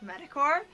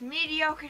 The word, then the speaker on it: mediocre: because i thought that it was sad like medicore and still it still swear it's just mediocre doesn't sound right I'd like barely say mediocre